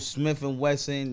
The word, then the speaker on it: Smif-N-Wessun: know hip hop download smith and wesson known as the coco brothers now spell it right s-m-i-f w-e-s-s-u-n like the sun shining right yeah my part